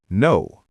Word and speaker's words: know: And when you see KN, you'll remember that the K is silent, like in no or knife.